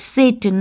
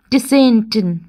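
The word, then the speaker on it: Tsetan: the author hires Satan and how do we pronounce it Satan not Destin okay it is Satan T is silent children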